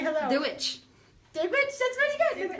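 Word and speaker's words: Dia dhuit: Dewitch.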